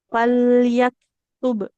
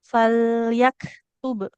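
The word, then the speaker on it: فليكتب: Huruf kafnya jadi bukan fal yak ya, tapi fal fal yaktub. falyak gitu saja falyak Nah, iya. Jadi baik bukan bunyinya ada e-nya, tidak fal yaktub, tidak fal yaktub, tapi fal yaktub.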